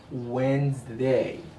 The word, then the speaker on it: Wednesday: this day or the of this week is pronounced as Wednesday when an easel see salon we got the